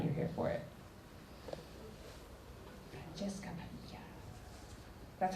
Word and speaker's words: Padilla: Francesca Padilla.